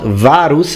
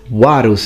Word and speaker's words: Varus: call it Italian pronunciation the V is not varus like you would say in ecclesiastical pronunciation it's warus it's a work now